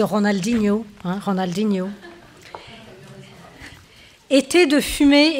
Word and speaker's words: Ronaldinho: même temps alors moi j'ai adopté la prononciation française de Ronaldinho hein Ronaldinho été de